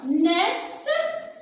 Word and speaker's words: naissent: Alors, naissent, ici, N avec AI, le son E, c'est né. Alors j'appuie ici parce qu'il y a double consonne avec le E, le NT sont muettes.